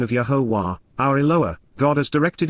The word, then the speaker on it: Yahowah: and consistently exist as, imperfect, Yahowah, the proper pronunciation of Yahowah, our Eloah, God as directed in his Torah,